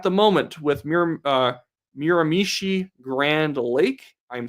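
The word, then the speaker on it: Miramichi: It could always come back the other way, but at the moment with Mir uh Miramishi Grand Lake, I'm saying it correctly this time.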